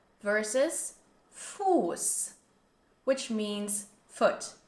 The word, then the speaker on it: Fuß: for river, Fluss, versus Fuß, which means foot, and this has a long stretched U sound, Fuß.